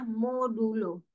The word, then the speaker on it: modulo: Persen di Python tidak dibaca persen, tapi dibacanya modulo.